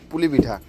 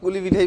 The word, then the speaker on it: পুলি পিঠা: Actually পুলি পিঠাকে আমরা কুলি পিঠাই বেশি বলি, উচ্চারণ যেটা করি ছোটবেলা থেকে কুলি পিঠা বলতাম, জানতাম না যে এটাকে পুলি পিঠা বলে, তাই তো? কয় রস্যু লয় রস্যি বলতাম কুলি, আর অ্যাকচুয়ালি এটার নাম হচ্ছে পুলি পিঠা।